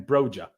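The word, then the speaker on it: Broja: and Cowell earlier and Brer in that video pronounced his own name broer so I need to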